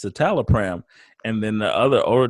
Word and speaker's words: citalopram: was trying to say citalopram and she was mispronouncing it I think she said sit a little firm or something that's close she got out of the driver yeah it's just pronounced citalopram and then the other owner tech goes don't